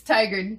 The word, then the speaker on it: Tigard: west out like Washington Teagarden County's shit. to the west. Yeah, where Yeah. like Hillsborough and Beaverton and Hillsborough, Beaverton, Teagard. mm-hmm. Teagard? How do you say it? It's Tigard. Tigard?